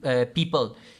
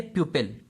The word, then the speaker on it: pupil: एक तो ये हो गया, इसको पीपल प्रोनाउंस करते हैं. Don't pronounce it एज पीपल. पीपल हमारे पास होता है लोग. ठीक है, ये है प्यूपिल.